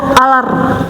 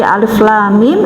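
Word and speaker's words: الم: Tidak alar atau alaro, tidak ya, seperti alif lam mim itu dibacanya per huruf.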